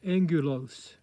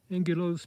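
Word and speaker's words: angulose: in the same genus but this one's called angulos angulos prominent and it's spelled a-n-g-u-l-o-s-e excuse me excuse me angulos prominent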